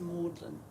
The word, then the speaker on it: Magdalen: the town that is spelled like Mary Magdalene the saint but it's pronounced Maudlin or Morgan yeah I